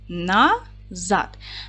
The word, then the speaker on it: назад: поділимо слово на склади назад наголос падає на другий склад н твердий приголосний а